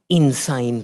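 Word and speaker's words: Insein: in yangang gon um it's spelled different than the insane that we're used to but uh the sound is relevant I think so if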